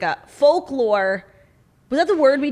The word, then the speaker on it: folklore: it is called fork folklore it's hard to pronounce called forklore for folklore it's the l is like it's a light out it's not like fock but it's it's folklore it's folk lore um